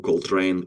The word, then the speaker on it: Coltrane: Can you introduce yourself and tell the audience who Cold Train is?